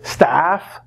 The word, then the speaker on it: staff: That's the at sound. So the big difference when people have problems is usually the pronunciation. A and a. So stuff, tough, bluff, a. Staff, laugh, math, a.